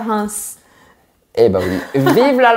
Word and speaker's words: Reims: Donc, E-I-M se prononce 1 et on prononce la lettre S. Reims.